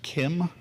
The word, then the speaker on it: CIEM: going to see ciem which is supposed to be pronounced Kim because of sim is